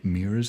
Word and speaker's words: mirrors: Do you notice how Americans say mirrors as one syllable now?